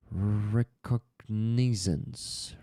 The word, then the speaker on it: recognizance: You were correct in the last pronunciation, Rick. Wow, that's cool. So that new word is recognizance.